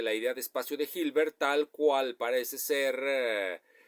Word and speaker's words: Hilbert: encontrar en la H porque hilbert se escribe con h H que se aspira hilbert hilbert en esta ocasión quiero